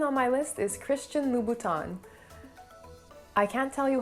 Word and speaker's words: Louboutin: so it's christian christian the same goes for the n at the end of his last name lubutin or louboutin it should be pronounced so when you